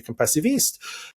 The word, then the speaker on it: Compassiviste: Is it compassivist or compacized or you know and I say compassivist and they say well